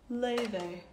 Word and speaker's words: Laufey: computer guys oh yeah that is how my name is pronounced lay they isn't that funny parents